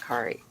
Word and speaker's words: Kari: Yeah, are you guys having some smoke in your area, Carrie? Or Kari? I know that you pronounce it Kari.